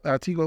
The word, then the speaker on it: Tigua: So Tigua, what's the Tigua?